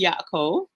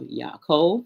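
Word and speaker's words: יעקב: So his name is Yaakov, pronounced, if we were to transliterate, we would be YA. And then we've got an Kof with a colon and then a Vav. So we have Yaakov.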